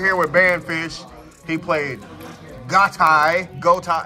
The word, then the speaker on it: Ghoti: He played Ghoti. Ghoti. How did, what's the proper pronunciation? Fish.